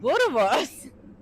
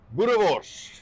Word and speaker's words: Boerewors: You say it like Boerewors. Anton, say it in your lovely accent. Boerewors.